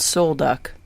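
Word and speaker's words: Sol Duc: Park there we were at a campground called soul duck and I don't remember what the name means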